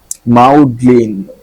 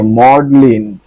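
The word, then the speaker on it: maudlin: মাউডলিন দেখি নিজের উচ্চারণটাই কি মাউডলিন ওরে মডলিন আমি মাউ এম ইউ মাউ করতেছিলাম এটা হবে কি মড লিন so excessive excessive র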